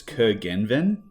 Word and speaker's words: Curgenven: So in Australia, I've just broken into 3 syllables and just gone Curgenven.